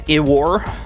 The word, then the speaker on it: I-War: Iwar, pronounced with a short I. It's Iwar.